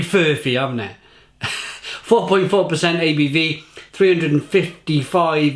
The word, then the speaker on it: Furphy: So Murphy is easy enough, so putting an F before it, I'm like, it's bending my brain. Furphy. It's got to be Furphy, haven't it?